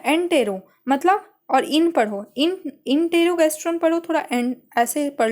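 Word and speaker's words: enterogastrone: guest, ठीक है, एंटेरो मतलब, और इन पढ़ो, इंटेरोगैस्ट्रोन पढ़ो, थोड़ा एंड ऐसे पढ़ लो, प्रोनाउंसिएशन ऐसे कर लो, इंटेरोगैस्ट्रोन, तो मतलब इनिबिट,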